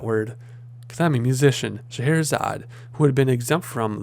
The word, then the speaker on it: Scheherazade: Eventually, the Vizier's daughter, Scheherazade, I know how to pronounce that word, because I'm a musician, Scheherazade, who had been exempt from the danger, volunteered to marry the king.